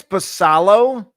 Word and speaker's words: Basallo: The O's top prospect is catcher Samuel Bacello. If I'm pronouncing that. I think it's Basallo. I've heard Basallo.